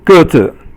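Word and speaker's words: 个子: So, and then the next one is 个子. 个子 is 个 is fourth tone, and then 字 is 轻声 or no sound.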